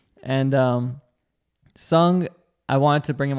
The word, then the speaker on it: Seoung: Li pronounce that right it's sung like a bird and sung I want to bring